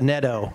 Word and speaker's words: Nadeau: I wanted to point out to Nadeau. Did I say it right? Pretty close. It's Meadow, but Neto. That's better there.